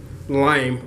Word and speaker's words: Leim: is his last name lime like the fruits okay so how do